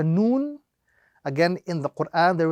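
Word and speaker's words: نون: So the correct pronunciation of this letter is Noon. Again, as an individual letter with the prolongation. Noon.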